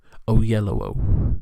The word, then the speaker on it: Oyelowo: I am going to look up how to say it. Oyelowo. Yeah. Oyelowo. Okay, that sounds good.